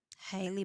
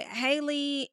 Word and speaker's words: Halle: But Haley and Halle, I keep saying her name wrong. Please forgive me. Halle. It's like Halle Berry.